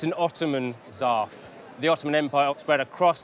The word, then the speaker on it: zarf: It's known as a Zarf. That's spelled Z-A-R-F.